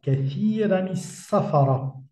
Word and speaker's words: كثيرا السفر: Donc, on n'entend pas l'article défini, ni le alif, ni le lam. Le lam, c'est tout à fait normal de ne pas le prononcer, car le signe que vous voyez ici est une lettre solaire. Et avec la lettre solaire, le lam ne se prononce pas. Et on remarque que même le alif ne se prononce pas, d'où la liaison. Kathirani safara. Et la deuxième liaison se